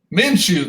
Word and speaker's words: Minshew: Minshew, that's how you say his name.